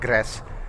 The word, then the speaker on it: Graz: road saying um saying grass we'll we'll pronounce it as grass If someone knows how it's actually pronounced and let me know okay it's actually like grass and it has a